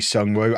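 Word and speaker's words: Seong: Um and then Almeida on the left, Sunw on the right and Ratinho up front. Someone in the comment was like K you don't pronounce the E in uh in Syong. So it's actually Sun Woo.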